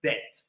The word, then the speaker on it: debt: This is how we write the word debt. Debt. But we don't pronounce the B.